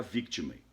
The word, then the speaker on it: victimae: Só para você ver ideia, eficácia erga victimae, só porque o E não é pronunciado no latim, quando ele está no final. Então, erga victimae.